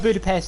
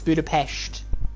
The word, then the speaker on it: Budapest: It's not Budapest, it's Budapest. With a sh.